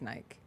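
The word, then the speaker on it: Nyck: It's Nick. It's Nick.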